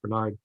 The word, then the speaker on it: Bernhard: be a piece by ruth bernard and if you're not familiar with the work of ruth bernard it looks like bernhard is the way it's but it's pronounced bernard uh look it up